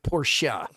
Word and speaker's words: Porsche: Porsche. It's how you pronounce it.